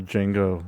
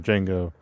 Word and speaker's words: Django: Django. Yeah. Spell it, you know, the D is silent.